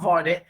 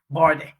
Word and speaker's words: Vardy: Jamie Vardy, not Vardy, Vardy.